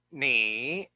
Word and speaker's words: 你: So this is how you pronounce this character. 你你 Can you repeat?